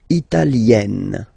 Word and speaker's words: italienne: L'Italie, italien, italienne. Remember, when you get this followed by a double consonant like here, then you will have to open it. Italienne, italienne.